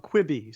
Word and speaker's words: Quibi: because I still haven't figured out how to pronounce this yeah okay well that one I can do this is called kwibi so kwibi we have been hearing about a